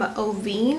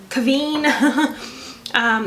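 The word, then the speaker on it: QVEEN: This is the Dragon Eyeliner Duo from Oveen. I think that's how you pronounce it. Let's see if that's correct. Oh, it's a Q. It's a Q-V-E-E-N. So Kaveen.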